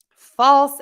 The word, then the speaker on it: false: sound exactly the same false and false are different false f-a-l-s-e ends in an s and falls f-a-l-l-s ends in a z so false and Falls